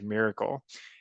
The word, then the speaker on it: MRKL: reasoning knowledge and language which is pronounced as miracle and so basically it's